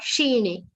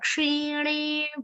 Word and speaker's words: kshine: Kshatriya ksha, not shine. Ksha, kshine punya martyalokam.